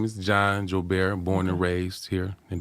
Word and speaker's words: Joubert: We want to welcome, and I'm going to be Creole tonight because I'm going to pronounce his last name like it's supposed to be pronounced.